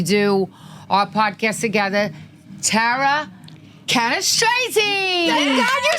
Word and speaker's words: Cannistraci: Tara Cannistraci.